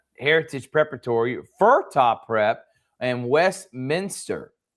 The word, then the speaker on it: Westminster: Manor Donovan 17, Augusta Prep, Heritage Preparatory, Fura Prep, and Westminster, not West Minister.